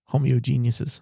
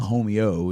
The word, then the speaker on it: homogeneous: Homogeneouses. That's about it. Yeah. Or see, I can. It's not homeo. It's just homogeneous.